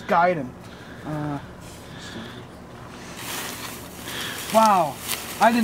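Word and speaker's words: Gaiden: __ ] you and it's not pronounce gayen people it's giden uh wow I did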